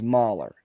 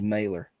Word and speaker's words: Mahler: Even like Ernie says Mahler. So that's how you say it in German. It's Mahler. Yes, Mahler. Yeah. Hold on. So, let's pull up the baseball pronunciation guide and see if. All right, Tim is going to correct us here. Here we go. My Talking Baseball game says Mailer.